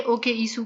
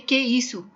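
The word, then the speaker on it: que é isso: लेकिन जो फॉर्मल है और नॉर्मली जो इस्तेमाल होता है, यहाँ पर कभी नहीं किसी ने ओके ईसू कहा, सब कहते हैं के ईसू, के ईसू।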